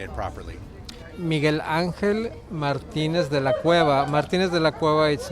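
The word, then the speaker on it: Miguel Ángel Martínez de la Cueva: name so then i can say it properly miguel angel martinez de la cueva martinez de la cueva is my father's last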